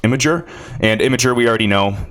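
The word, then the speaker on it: Imgur: talk about all right it's I always say I'm ger when I see it but it's actually pronounced imager and imager we already know the huge partnership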